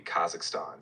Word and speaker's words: Kazakhstan: Kazakhstan? Yes, exactly. Kazakhstan.